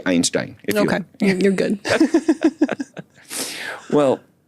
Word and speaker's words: Einstein: It's the German way of saying this, Einstein. That's how he would have said it. Yeah. Oh, is it? Okay. Right. Got it. Okay. We could say Einstein.